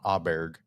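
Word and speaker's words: Åberg: Aberg. Oh, there. It's an Yeah, it's A, but you Oberg. pronounce Yeah, it like O.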